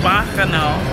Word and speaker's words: Bacchanal: We just finished at the Bacchanal. That's how it's pronounced. Bacchanal Buffet.